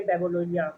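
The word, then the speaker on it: Babylonia: लोगों के लिए हमने बेबोलोनिया babe बेबिलोनिया नॉट बेबी बेबिलोनिया बेबिलोनिया pronunciation नहीं होगा बेबिलोनिया बेबिलोनिया from about 1100 बीसी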